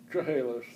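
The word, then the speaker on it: Chehalis: from chahalis Washington how do you say it chahalis chahalis closing up Washington yeah it's close and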